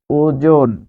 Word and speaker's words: ওজন: তাহলে ও যখন বর্গীয় জয়ের সাথে বসবে তখন জো, ওজন। ওজন উচ্চারণে আপনি নর পরে থেমে যাচ্ছেন, ফলে এখানে আপনাকে দিতে হবে ওজন।